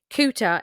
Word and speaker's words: Culter: up on a map, Cooter is actually spelled Coulter, Culter. Now, I don't know if this is a pronunciation thing because of the Scottish accent, but it's actually said as Cooter as far as I could work.